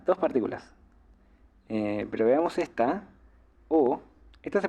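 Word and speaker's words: を: de gagana como W pero siempre lo van a pronunciar como o porque en el japonés moderno esta sílaba Para lo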